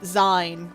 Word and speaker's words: zine: Though, I'm still not quite over, hearing someone pronounce it Zine one day. I can't. Y'all, that's a bridge too far. Oh? Like, it's zine. It's short for magazine.